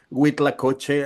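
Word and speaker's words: huitlacoche: name, but could you well, first tell me what the proper pronunciation of the Mexican name is, or Spanish name, um, and then what it is and what you do with it. Yeah, it's with lacoche, and it's yeah, as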